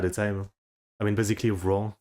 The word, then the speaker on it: Rouen: Okay, his pronunciation is good sometimes, but the pronunciation of Rouen is like it has the word roux, which is like whale in it. Huh? Rouen.